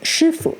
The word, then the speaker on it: 师傅: are two words pronounced "shīfu" </b> <b> that sound identical but are written with different characters.</b> <b>One is 师傅,</b> <b>which